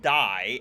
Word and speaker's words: Dei: This also parlays into our third and last musical for this episode called Vox Die. At least I believe it's pronounced die as Latin for God, although it would be ironic what with him being an allegory for Trump that it's DEI.